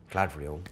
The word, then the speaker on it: Galadriel: Well, I just did a film with MORBIUS, pronounced correctly, Clark, who's Galadriel. Gladriel.